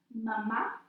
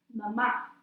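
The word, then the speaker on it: mamá: is mama or mom mama there is a accent Oh the second a which means that syllable is emphasized mama but Bob is dad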